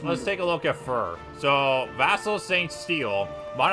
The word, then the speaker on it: Fir: fear that's impressed how that's how cute actually pronounce her name fear oh no it's fur I I think she says it in her spring all fur that's her name fur okay um yeah not if you are it's